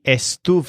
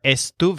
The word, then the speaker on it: estuve: she or it was again both words have Stu as the stressed syllable but Joel sounds more like Stu face and the lizard sounds more like Stu foot these words can be